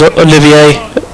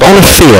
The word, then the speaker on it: Olivier: It's a difficult one because it looks like Olivier or Oliver, but yes, Olivier, I think we told.